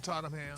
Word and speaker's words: Tottenham: On Tottenham.